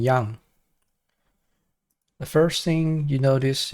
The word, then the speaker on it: yang: you about Y and yang the first thing you notice is that I pronounce it as Yang not Yan a lot of the time I see people pronounce it as ying and Yan it doesn't really make sense